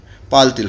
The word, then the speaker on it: parle-t-il: Parle and il you will write, but in between you have to put extra t in between and then {dash}. This t has no meaning. It is just for the sake of pronunciation.